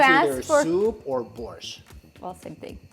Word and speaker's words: borscht: When you It's ask either for soup or borscht.